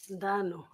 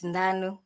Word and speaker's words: Ndanu: Ndano. Good afternoon. Have I pronounced it properly? It's Ndanu.